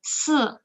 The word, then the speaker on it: 四: Okay, 四 read after me. 四四 so it's a dropping tone. 四 yeah, and 二 is also dropping.